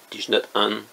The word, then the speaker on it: Thich Nhat Hanh: Thich Nhat Hanh, comme ça se prononce, mais vous ajoutez un H à chaque fois que possible.